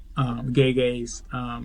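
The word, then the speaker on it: Gege: That's what they're calling him on the internet now, gay square, because his name is pronounced gay gay, or they call him Greg or whatever.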